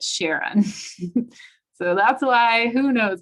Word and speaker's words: Charon: like okay you can name it caron but you need to pronounce it sharon so that's why who